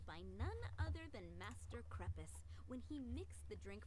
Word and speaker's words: Crepus: none other than Master crepus when he mixed the drink from Master Kaya himself krupus that is how it's pronounced she's like their mother